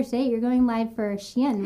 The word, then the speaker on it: Shein: You're going live for Shein, right? Do you want to tell them where to find you? Yeah, of course. Um, if you guys know Shein, it is a clothing line.